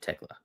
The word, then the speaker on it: Thekla: Thekla equals Tekla. Am I saying it wrong this whole time? Tekla? That sounds like the right way to say it. Tekla.